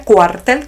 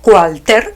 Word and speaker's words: cuartel: Hay que decirle a Miguel Díaz-Canel, señoras y señores, que cuartel se pronuncia cuartel con L final y no cualter, como insiste en hacernos creer que se dice.